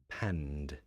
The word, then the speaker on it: panned: it panned out and again notice the pronunciation because this is voiced pan panned you're starting to hear the difference now right chalice as i want